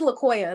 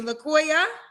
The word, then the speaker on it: Laoya: So, it's Laoya. That's how you pronounce it. Oh, yeah. I I knew I probably said it wrong. I said you Okay. Thank you for correcting me. Laoya.